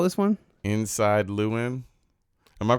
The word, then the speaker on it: Llewyn: Inside Llewyn. Am I pronouncing that correctly?